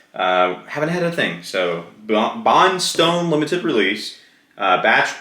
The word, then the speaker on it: Bondstone: Do believe it's pronounced Bondstone. Oh, and I haven't had a drop, so not a drop, but yes, Bondstone, not Bondstone.